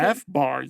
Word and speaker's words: FBAR: Is that how I pronounce it? FBAR, yes.